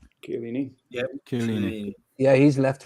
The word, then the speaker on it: Chiellini: And he has no interest in leaving Juventus because Chiellini, how do you pronounce his name? Chiellini.